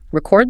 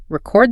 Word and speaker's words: record: Nouns stress the first syllable. Verbs stress the second syllable. Three. The big three. You need to commit these highfrequency pairs to practice. Record the noun. Record the verb.